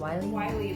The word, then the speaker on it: Riley: Wiley, like the coyote, yeah.